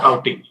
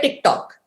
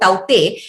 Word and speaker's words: Tauktae: The K, it seems, does not get pronounced. You put an apostrophe over there. So, cyclone Tauktae. A lot of people basically call it TikTok.